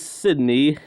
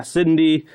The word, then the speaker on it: Cyndie: I digress but basically the leader is Sydney or Syd yeah Cindy Cindy that's how you say her name and her grandmother was